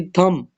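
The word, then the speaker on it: thumb: भी B silent है चौथा हमारे पास है जी थम टी एच यू एम बी थम इसको थम नहीं पढ़ते थम पढ़ते हैं बी जो है ना यहां पर क्या है साइलेंट है उसके बाद हमारे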